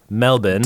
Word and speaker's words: Melbourne: because I've been there I have to now say it say it like they say it Melbourne I can walk yeah